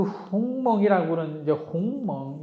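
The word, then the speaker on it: 鸿蒙: 그 홍몽이 그런 이제 홍멍 이렇게 이제 중국사람들 발음을 하는데 영어로는 하모니의라고 또 이렇게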